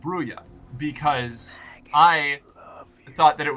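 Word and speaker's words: Brujah: Um, I originally thought it was Bruya. Then I thought it was Bruha because I assumed Spanish and is technically correct. But apparently the first edition Vampire the Masquerade book explains that uh the pronunciation in universe is Brua.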